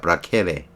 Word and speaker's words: placere: 라틴어로는 항상 K로 발음합니다. placere.